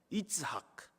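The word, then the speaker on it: יצחק: 이삭 이름이 이츠학이거든요. 히브리어 단어로 읽으면 웃음은 쯔호크입니다.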